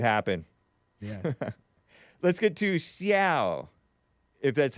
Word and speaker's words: Xiao: Let's get to Xiao, if that's how it's pronounced.